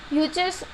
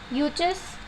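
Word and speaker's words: Yuezhi: The cushions were also known as यूचर्स और टॉर्चरन्स. आई am repeating this word because ये थोड़े pronunciation में आप लोग को प्रॉब्लम हो सकता है. यूचर्स और टॉर्चरन्स.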